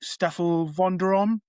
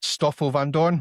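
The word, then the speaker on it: Stoffel Vandoorne: few drivers in between like Steph Vander if that's how you pronounce it. Stafle Van Dornne.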